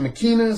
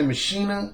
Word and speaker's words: Ex Machina: me ex ex machina some people pronounce in Makena some people say machinae whichever you want to call it ex machina I'll put